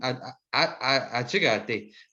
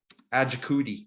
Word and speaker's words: Achigate: I didn't want to butcher anybody's last name because my last name, Achigate. Achigate. That's how you say my last name. Achigate. Achigate. But a lot of people end up saying like Ajakudi, like I have cooties or something. And that's not how you say it.